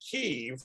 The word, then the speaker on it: Kyiv: And I'm calling it Kyiv because that's how they pronounce it in the Ukraine, not Kiev. That's what the Russians pronounce it.